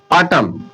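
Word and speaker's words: autumn: Rule number third M एम के पश्चात N silent रहता है। अगर एम के बाद में एन आ रहा है ना तो एन साइलेंट हो जाता है। देखिए ऑटम ऑटम ये जो एन आ रहा है लास्ट में ये साइलेंट हो गया। लिखने में आ गया पर पढ़ने में नहीं आएगा।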